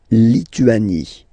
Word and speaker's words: Lituanie: La Lituanie. Remember in French, sorry, H doesn't exist, okay, so you don't pronounce it, and it's li, tu, a, ni, Lituanie.